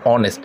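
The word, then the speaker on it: honest: হচ্ছে অ এর মত অনেস্ট হনেস্ট হচ্ছে না উচ্চারণ হচ্ছে অনেস্ট অনেস্ট যেহেতু হচ্ছে তাহলে এটা এ আই মানে পাওলের মত উচ্চারণ হচ্ছে বিধয় তাহলে তারপরে পরে কি বসবে?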